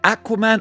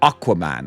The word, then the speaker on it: Aquaman: My brain went, is it Aquaman or Aquaman? I guess American pronunciation is more Aquaman. Here in good old Blighty, we say Aquaman.